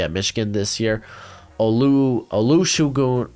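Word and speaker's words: Olusegun: going to be at michigan this year olu olusugu aloo shagoon there we go i wrote down the pronunciation i'm a big fan he's a big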